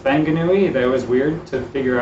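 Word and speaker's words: Whanganui: when um wh like wanganui is pronounced fanganui that was weird to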